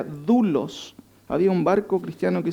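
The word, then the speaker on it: δοῦλος: De hecho, la palabra esclavo en el contexto es una palabrita griega que se nombra o se pronuncia doulos.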